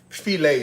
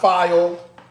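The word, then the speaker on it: filé: And then of course you have to add in you don't have to add it in but felt is is good. Not file. Okay. It's pronounced felt.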